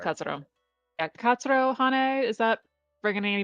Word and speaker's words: Katsuro: Do you want to spell it out? I can. Uh Katsuro Hane? Wait. Okay, say it again. Yeah, Katsuro.